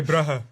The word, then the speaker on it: Brugge: And there's 2 G's in there, so we say Brugge. Yeah. Bruh. Whereas if he says it, it's completely different. Yeah. I would say Brugge.